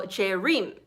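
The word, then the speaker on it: Jaerim: spell it j-a-e-r-i-m so cherim and it's hard for p for people to pronounce it because it's different so i said it's like dream but with j instead of d and that's um where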